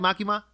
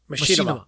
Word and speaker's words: Machinima: And no offense to am I saying it right, Makima? Machinima.